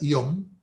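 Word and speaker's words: יום: Lo que pasa es que el término hebreo que se pronuncia yom y que se entiende como día, no tiene un valor fijo.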